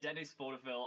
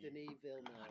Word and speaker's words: Denis Villeneuve: I think it's Denis. Denis Villeneuve. Oh, I'm sorry. Villeneuve.